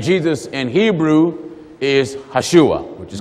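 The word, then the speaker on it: ישוע: And Hebrew, the way you say the name Jesus in Hebrew is Hashua, which is correct.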